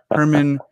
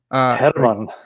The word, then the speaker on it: Herman: I say Herman Bavinck instead of what I think is Herman. Herman. You have to roll the R a little bit.